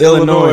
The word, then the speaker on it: Illinois: The S is silent, nigga. Don't ever disrespect Chicago niggas like that again. What is she? What is? It's not Illinois. No, nigga, it's Illinois. Illinois.